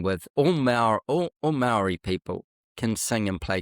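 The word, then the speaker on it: Māori: I should say Maori cuz that's the correct way to say it, Maori family.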